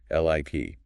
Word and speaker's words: lip: Lip has a short I sound. L-I-P. More relaxed. Lip.